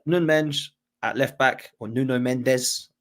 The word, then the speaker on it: Nuno Mendes: Uh Nunge at left back or Nuno Mendes is actually Nun Mench apparently, uh is how you say in Portuguese.